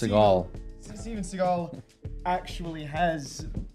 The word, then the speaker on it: Seagal: Pronounced Seagal.